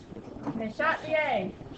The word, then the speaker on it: Le Chatelier: And he's a French guy. Le Chatelier. The French never pronounce the R's at the end. Yes. The R is silent.